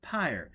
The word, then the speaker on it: PyrE: it will to Dagenham pyre capital P Y R P Y R capital e pronounced pyre as in funeral pyre tell Dagenham we've located